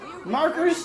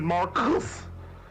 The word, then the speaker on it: Marcus: Why'd you say it like that? I'll follow you, Markers. Then follow Hold on, me. bitch. My name is Marcus. There's only one R in my name.